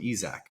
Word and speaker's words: Isack: I always thought it was Isaac, so I pronounced everything wrong, but everyone calls him Isac.